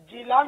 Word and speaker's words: جیلان: تو یہ قسم جیلان، اس کی دو قراءتیں ہیں، دو تلفظ ہے. جیلان بھی اس کا تلفظ ہے اور گیلان بھی، غین سے غیلان بھی اس کا تلفظ ہے.